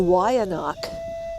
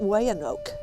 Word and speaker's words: Weyanoke: the Y anak and that's how you pronounce it not way an oak the Y anak people